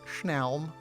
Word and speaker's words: snelm: That's how you actually pronounce it, schnelm.